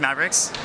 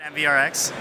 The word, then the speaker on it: MvRx: In case you were curious, it's pronounced MvRx. It's not MvRx.